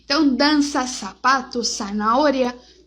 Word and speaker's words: zanahoria: Então, dança, sapato, zanahoria, sempre dessa forma, com som de S.